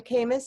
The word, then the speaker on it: Kamiss: The name of her company is, you could say it's Kamiss. Is that how you say it, Nilu? Yeah.